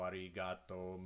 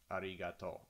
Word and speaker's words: arigato: bs you know domo arigato mr roboto or whatever it is it's not pronounced like that arigato is pronounced arigato with equal emphasis on all syllables no need to stress